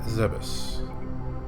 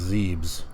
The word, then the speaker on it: Zebes: Planet Zebes. Way back in the day, everyone over here in the USA thought that it was pronounced Zebes. But we have the official pronunciations now.